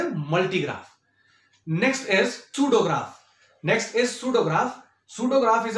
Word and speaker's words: pseudograph: Hair P will be silent and it will be pronounced like सूडोग्राफ।